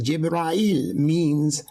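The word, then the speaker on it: جبرائيل: not aware that the name gabriel in arabic pronounced as jibrael bone center now if you're not yet understanding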